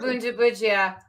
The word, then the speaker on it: Bundibugyo: always back to my Soft G, business soft G for Bundibugyo, hard G for Gizaid.